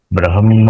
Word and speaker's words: ब्रह्म: ब्रह्मार्पणम ब्रह्म हवि कहते हैं ना, तो ह का उच्चारण पहले करना होता है और म का हम्म। उच्चारण बाद में होगा।